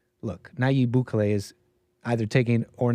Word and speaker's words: Nayib Bukele: Nayib Bukele, president of El Salvador since 2019.